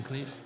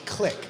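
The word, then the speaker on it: Klich: Are we butchering Cleese? We are, evident, which I have been forever. I think it's click. Click. Like, okay. Yeah, like clicking him out.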